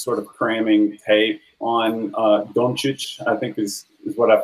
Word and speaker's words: Dončić: I mean, I spent the last probably 48 hours just sort of cramming tape on Dončić, I think is what I found out his pronunciation on it.